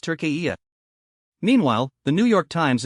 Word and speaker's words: Türkiye: t u r k e y e, and pronounced Tur-key-yay.